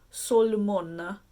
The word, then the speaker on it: Solmona: I think someone told me how to pronounce it. It's Solmona.